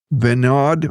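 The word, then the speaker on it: Vinod: or electricity and a different fellow and again mispronouncing these words CA Ventures his his name is venard v i n o d CA k h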